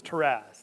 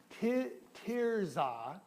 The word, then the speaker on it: Tirzah: You're beautiful as Taraz. Now, that's a city. Actually, I'm not pronouncing it correct. Tirzah.